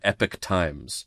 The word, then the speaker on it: Epoch Times: campaign and they also changed the pronunciation of the thing from Epoch Times to Epic Times.